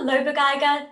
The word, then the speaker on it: Lobegeiger: it no so my name is loba geiger dera dragon 10th syllable so this is the first here you